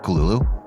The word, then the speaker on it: Cthulhu: in the original story the call of kululu that's how lovecraft pronounced it by the way and now in underwater